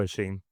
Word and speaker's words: Hichem: It's even my name I don't pron I pronounce my name in a French way.